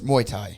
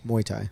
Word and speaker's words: Muay Thai: about them how do you say it it's muay thai muay thai yeah i can't say that yet it's all